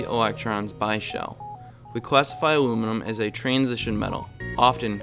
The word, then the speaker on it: aluminum: on the periodic table in Europe it is pronounced aluminium whereas in the US we say aluminum either way it weighs